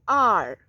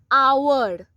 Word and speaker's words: hour: H is not pronounced. We only say R. O-U-R-R.